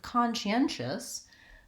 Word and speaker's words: conscientious: things change so again with conscientious I have a third syllable stress so come she and